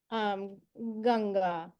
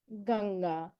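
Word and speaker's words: गंगा: And what I will say is that they tend to occur before a consonant in the same row here. Therefore, you will automatically pronounce this correctly. So an example would be Ganga, Ganga. Okay, so this N appears before this G and your tongue's already in the correct place. It's very hard to mispronounce it.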